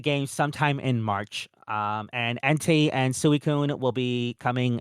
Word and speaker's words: Entei: No, you said Entei.